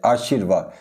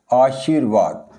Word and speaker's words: आशीर्वाद: लगाते हैं व शी के साथ गाते हैं आशीर्वाद जबकि यह अशुद्ध है सही होता है इस तरह से आशीर्वाद जो रेफ रा है इसका उच्चारण जिस वर्ण